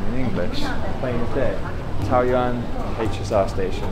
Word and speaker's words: Taoyuan: Taoyuan HSR station. How was my pronunciation? Taoyuan. Bang on. Taoyuan, right?